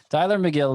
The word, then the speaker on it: Tylor Megill: mets and that's t-y-l-o-r-m-e-g-i-l-l neither of the names is spelled like it sounds tyler mcgill of the mets he